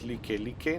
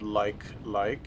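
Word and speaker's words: Likelike: this next exit the licky licky highway exit it is pronounced Lakai Lakai not like like it is a Hawaiian word if you're going to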